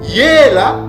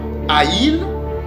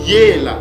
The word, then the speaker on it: Yela: Donc, Yela, c'est ça la bonne prononciation. Ce mot-là se prononce pas Ail mais ça se prononce ou se prononce Yela qui veut dire grand, être grand et fort.